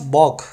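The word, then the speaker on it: balk: अगला वर्ड है अपने पास बॉक। इसमें एल साइलेंट है।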